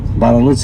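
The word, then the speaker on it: Barluzzi: The Italian's architect name is Antonio Baraluzzi. Okay, Baraluzzi. And you say his name, you have to do this when you say his name.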